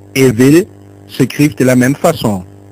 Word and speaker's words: ville: Des mots comme bi et ville s'écrivent de la même façon, il. Cependant, ils ont une prononciation différente. On dit bi et ville.